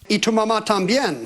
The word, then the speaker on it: y tu mamá también: Y tu mamá también. By the way, Ken, it's pronounced y tu mamá también.